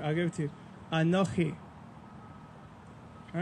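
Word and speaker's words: אָנֹכִי: give it to you anokhi all right in English it's phonetically spelled a-n-o-c-h-i phonetically mind you probably not literally but that in itself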